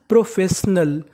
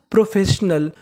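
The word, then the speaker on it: professional: आई यहां पे साइलेंट है। हमें आई का उच्चारण नहीं करना। और आखिर में लिखा है ए एल। एल को पढ़ते हैं अल। तो पूरी मीनिंग क्या बनी? प्रोफेशनल। प्रोफेशनल।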